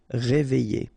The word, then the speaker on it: réveillé: Okay, I-double-L-Y. Réveillé.